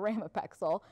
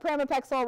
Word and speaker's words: pramipexole: that August should be pramipexole not Reina pixel but pramipexole or pin or a